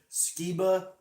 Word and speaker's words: Skiba: Like I said, Skiba. If Skiba and Tom DeLonge, they wouldn't fight. They wouldn't fight each other. They like each other. Skiba inspired DeLonge. That's how you say it.